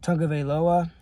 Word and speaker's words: Tagovailoa: Tagovailoa, quarterback out of Alabama.